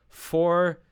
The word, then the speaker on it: vor: V is pronounced like F. So it should be vor 2 Tagen.